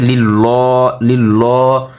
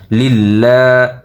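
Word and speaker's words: لِلَّهِ: জিল্লিল লাম খারা জবল্লা আমরা অনেকে বলে থাকি লিল্ল, তাহলে দেখা যায় আমাদের নামাজে কিন্তু ভুল হয়ে যায়। লিল্লাহ আলহামদুলিল্লাহ হাজির হি লিল্লাহ একল প্রাণ হবে লিল্লাহি।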